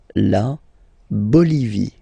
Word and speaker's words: la Bolivie: Okay, final E not pronounced. La Bolivie.